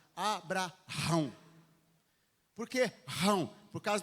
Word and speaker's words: Abraão: O correto é você pronunciar Abraão.